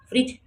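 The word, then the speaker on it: fridge: फ्रिज फ्रिज में D silent है।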